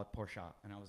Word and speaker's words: Porsche: Coast thing I was honest and I said Porsche and the guy got so mad at me he's like please stop saying Porsche it's Porsche as a family and you're pronouncing their name wrong call it Porsche and I was like okay and when when